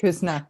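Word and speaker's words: Küsnacht: And Kuznat, is that how you pronounce it? Kuznat, yes.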